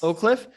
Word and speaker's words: Oak Cliff: like a tour about Oak Cliff, did I pronounce that correctly? Yes. Oak Cliff.